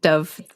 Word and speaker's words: Dove: it Dove or Dove Dove like the bird dove like the bird probably